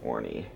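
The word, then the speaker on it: Orne: was at Orie Harbor like oh r n or o h n e y or something like that pronounced Orie kaying in the polar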